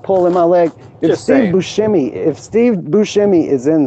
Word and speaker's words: Buscemi: Buscemi if Steve Buscemi is in there that would be everybody whose last name ends with an I pronounced as an E I can think of